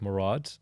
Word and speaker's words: Murad: i do yeah like people say oh or morad i'm like no my name's pronounced murad yeah that is it